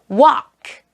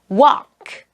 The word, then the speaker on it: walk: 자, 이제 L이 묵음이 되는 단어. talk, talk, walk, walk, could, could, would, would, should, should.